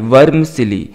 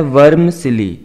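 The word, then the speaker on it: vermicelli: फिर आप कहते हैं वर्मसिली, वी ई आर एम आई सी E double L आई, वर्मसिली, इस तरह से इसको प्रोनाउंस करना है, वर्मसिली।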